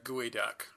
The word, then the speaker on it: geoduck: Also, by the way, it's Gooey Duck. I know it doesn't look like it's spelled like that, but it is, in fact, Gooey Duck.